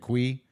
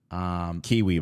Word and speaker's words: Kiwi: talking about Vegeta and Kui. Kiwi, by the way. It's pronounced Kiwi? His name in the manga is Kiwi.